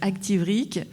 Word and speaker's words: Activric: active comme activité, rque comme rheumatisme inflammatoire chronique. La directrice de mon hôpital a mis 15 fois avant de le prononcer, donc Activric.